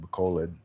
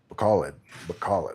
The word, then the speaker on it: Bacolod: some locals here in Bacolod. Oh, okay, so no flooding really in Bacolod. Bacolod. I think it's Bacolod. It's like bacaw lead, like a lead in a pencil, lead, bacaw.